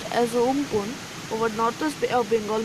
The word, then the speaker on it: Amphan: The super cyclonic storm Amphan, which is pronounced as Umpun, over northwest Bay of Bengal moved north-northeastwards with